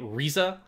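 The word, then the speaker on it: Riza: gears so much that hawkeye's first name is spelled with an r and they say it risa hawkeye is what is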